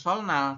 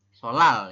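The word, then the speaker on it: 설날: Jadi kita bacanya bukan solnal, tapi adalah solal ya, teman-teman. Dibacanya adalah solal.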